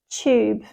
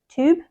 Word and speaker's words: tube: The correct pronunciation is tube, tube. This is in a British accent, but in American, they might say something like tube, I think. They say YouTube, and we say YouTube.